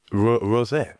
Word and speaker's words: Rosset: We've got so on this episode we have got the fantastic newcomer pairing of Éric and Anaïs Rosset. Now I've pronounced that right, haven't I?